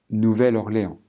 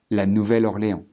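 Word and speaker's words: Nouvelle-Orléans: D3 Bâton Rouge et nouvelorléand ici en anglais on dira new mais en français on dira nouvelle la nouvelle orlé alors on retrouve ça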